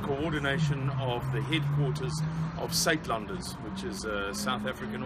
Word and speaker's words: Suidlanders: Yes, the word SaitLenders is spelled SUIDLANDERS.